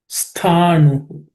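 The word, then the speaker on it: sthāṇu: Sthanu. That stha, the tha is again second letter in the tha varga, so it has to be aspirated. Sthanu achuloyam sanatana.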